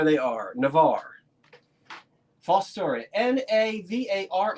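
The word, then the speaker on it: Navarre: are Navar false story n a v a r r e if you want to pronounce it navari go right ahead I'm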